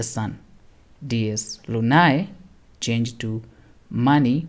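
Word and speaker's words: Máni: Dies Lunae, changed to Mani, which is pronounced Ma-ni, is the god and personification of the moon.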